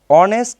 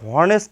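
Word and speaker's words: honest: দেন আরেকটা এক্সাম্পল, এখানে এক্সাম্পল দিতে পারি আমি, অ্যান অনেস্ট ম্যান, এখানে আমরা কিন্তু হনেস্ট ম্যান বলতে পারবো না, হনেস্ট, অর্থাৎ এইসের উচ্চারণটা কিন্তু এখানে হচ্ছে না, এটা যদি কেটে দেই,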